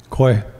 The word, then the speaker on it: kweh: Kwe.